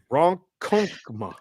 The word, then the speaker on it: Ronkonkoma: You're going to have to help me with the pronunciation of this one. This is in 631 Ronkonkoma, New York. Oh, okay. Ronkonkoma. Sure. Ronkonkoma.